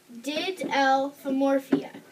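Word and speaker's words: Didelphimorphia: placed in this order did l4 morphia there's six syllables its name means to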